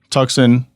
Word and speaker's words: Tuxon: we just follow toxin tuxin it's spelled t-u-x-o-n is on purpose because when you try to say the word Tucson that's exactly how it's phonetically you know it looks like toxin so yeah man um